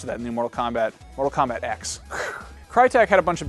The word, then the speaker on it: Mortal Kombat X: I know I know Mortal Kombat 10 technically Roman numerals and all that but I guess Ed Boon actually stated officially that it is going to be pronounced Mortal Kombat X like the letter uh his trailer showed